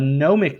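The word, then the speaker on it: gnomonic: and weather maps a gnomic map because the g is silent sailors use it for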